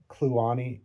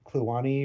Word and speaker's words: Kluane: Uh I don't know if I'm going to pronounce it right, but it's called Kluane Kluane or Kluane. K L U A N E Kluane Lake.